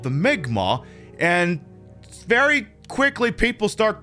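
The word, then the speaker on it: Mi'kmaq: the migma it's spelled m-i-m-i apostrophe k-m-a-q it's pronounced migma and uh where it would get weird and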